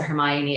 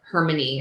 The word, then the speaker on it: Hermione: time I was reading I did not pronounce it Hermione it was like hermony or something like in my head